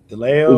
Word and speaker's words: DeLeo: Is that how you say it, Brett? DeLeo? Yeah, that's it.